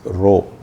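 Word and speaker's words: rho: is denoted by the Greek symbol that is row row the pronunciation is Rh row and again say mass density of water say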